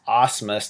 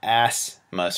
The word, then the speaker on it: Ausmus: have to ask this your last name is pronounced Ausmus not ass most right here I you